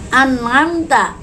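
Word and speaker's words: أنعمت: An'amta adalah izhar halki karena ada nun mati bertemu dengan ain. Cara membacanya adalah jelas, nunnya jelas, ainnya jelas.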